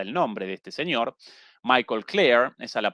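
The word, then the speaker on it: Michael Klare: Perdón, no presenté como la vez pasada el nombre de este señor Michael Claire. Esa la pronunciación eh correcta en Tom Dispatch, una publicación crítica de la izquierda estadounidense.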